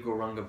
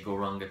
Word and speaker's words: Gauranga: It's in 4 syllables. Go, ra, ang, ga.